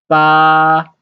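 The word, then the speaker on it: 八: t seven and the next one is eight bar the first one eight bar the first stone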